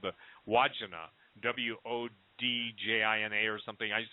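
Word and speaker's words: Wandjina: And it's I think Stan corrected my pronunciation, Deo did, but it's called the Wodjina, Wodjina or something. I used to call them the Wajinga, but it's a Wodjina.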